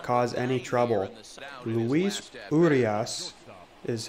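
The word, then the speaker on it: Luis Urías: runner on second will not cause any trouble luis urias is how the announcer just pronounced that so he is up to bat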